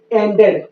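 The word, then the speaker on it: ended: ई का उच्चारण होता है अगर वर्ब डीईडी या टीईडी से समाप्त हो। जैसे एंडेड, एंडेड में आप पाएंगे कि यहाँ डीईडी से समाप्त हुआ है, तो डीईडी से समाप्त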